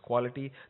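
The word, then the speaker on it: QoalaT: tools like Miq and Koala T I guess supposed be pronounced as quality that can help you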